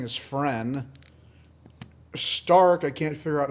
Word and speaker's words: Stark: Fern I keep saying is friend Stark I can't figure out how it's pronounced because it's they say it like Stark like sh Tark and then pretty much